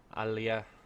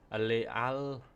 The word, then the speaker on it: Alalia: So as you can see, the Etruscans have Alea. Oh my god, my pronunciation's gone completely to pot. Alalia. That's right, Alalia.